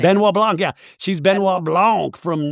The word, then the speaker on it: Benoit Blanc: Sutton Strack, but she's Benoit Blanc, or however you say his name. Benoit Blanc, yeah.